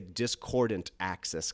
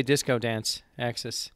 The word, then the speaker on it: Discordance Axis: start doing discordance access I always want to say discordant access because the disc ordnance I know it's hard for me to pronounce it's like it brings up some sort of speech impediment I didn't know he always say disco dance axis there you go disco dance access yeah